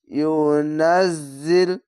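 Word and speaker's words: يُنَزِّلْ: আলিফ টেনে পড়বেন মালাম ইউনাজিল ইউনাজিল এই যা উচ্চারণটি ঝিন ঝিন করে আওয়াজ হবে যা এরকম ইউনাজিল বিহি খারি আলিফ তেনা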